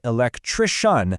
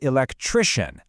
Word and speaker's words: electrician: that end in tion, there is a simple, unbreakable rule. The stress always falls on the syllable right before it. Always. Let's see it in action. You can really hear the difference. It's not introduction, it's introduction. Not electrician, but electrician.